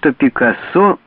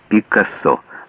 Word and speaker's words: Пикассо: шутку меня иногда спрашивают как правильно произносить Пикассо с ударением на последнем слоге или на предпоследнем то есть кто он испанец или Француз конечно испанец и по внешности и